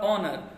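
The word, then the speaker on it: honour: Honor, O N O U R, honor.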